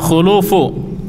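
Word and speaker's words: خُلُوف: Tanpa Batas ya wala khulufu yang benar yang disepakati bersama Bacanya adalah khuluf khnya dah wala eh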